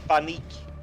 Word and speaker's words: paniek: No, since how you said it, it was almost how we pronounce it in Dutch. We say paniek, P-A-N-I-E-K.